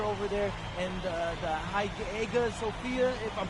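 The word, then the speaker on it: Hagia Sophia: a beautiful architecture over there and the the HA Sophia. If I'm pronouncing that right, it's supposed to be fire.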